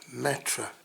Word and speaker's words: Matra: Mantra. Matra. I knew what it was called and I still said it wrong.